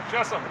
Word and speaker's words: Chessum: Chessum. We can't see it from here. How you spell it, please?